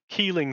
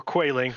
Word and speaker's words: Quayling: map you have the the keeling c or quailing depending on which matthew mercer you're going to listen to the pronunciation of that word okay i apparently need to but he did specify that he did the research and both are correct it is that is